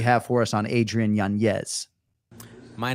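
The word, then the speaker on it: Yanez: no ranking anymore but how we pronouncing his surname these days in 2024 sure it's Adrian yanz I believe at this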